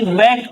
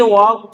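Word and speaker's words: walk: Stand up वी वॉक slowly we वॉक slowly we वॉक इसको वाक नहीं पढ़ना है।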